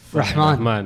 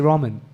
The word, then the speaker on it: Rahman: I worked around a lot of people that couldn't pronounce Rahman. Yeah, even I couldn't Right. pronounce But it. now you just say ramen, like the noodles.